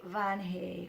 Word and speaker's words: Vange: in a moment and he couldn't say van hay which is the way to pronounce my name in Spanish man he is coming